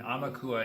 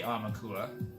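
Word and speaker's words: Aumakua: And Amaukua, if I'm pronouncing it properly, A-U-M-A-K-U-A, is a Hawaiian word, which is a deified ancestral guardian spirit, frequently manifesting as an animal.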